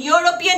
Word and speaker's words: European: European, it's pronounced like Y.